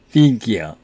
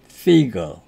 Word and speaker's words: figure: 우선 발음은 미국식 발음은 figure 이렇게 발음하고요. 영국식 발음은 figure 그냥 어를 붙여서 발음합니다. figure.